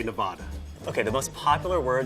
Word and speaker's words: Nevada: People say Nevada. Okay, the most popular word that's probably mispronounced is Nevada. It's a Spanish word, probably, which is supposedly supposed to be pronounced Nevada.